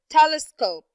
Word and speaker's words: telescope: right there approximately okay how about the word telescope telescope telescope telescope yes very good it's the first syllable telescope okay how about the